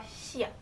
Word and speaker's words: 시옷: Now 시옷 can be pronounced as an S or a T, just like depending on where you place it. If it's in the beginning of a syllable, it would have the S sound. But if it is placed at the end of a syllable, it will have the T sound.